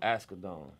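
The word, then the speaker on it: Asghedom: Askedon.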